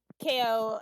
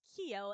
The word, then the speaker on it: Keo: actually have uh uh KO step back a bit I'm gonna throw I'm gonna actually like lift up the everything from the ground and throw him well first of all it's pronounced Keo and second he probably at